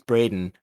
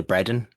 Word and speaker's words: Bredin: so like it's it's Braden um like this the D is barely there and um so when people read it they always say Bren and then when I